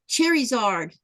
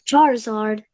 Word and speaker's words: Charizard: Then uh Cindy says she likes uh Cherard. It's Charizard.